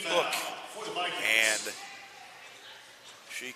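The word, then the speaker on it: Ouck: Kamari Ook picks up her second O-U-C-K, pronounced Ook.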